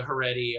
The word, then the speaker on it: Haredi: You didn't mention this for the Haredi community. Is there increased compliance, or is there political fallout since the Haredi are in the coalition government?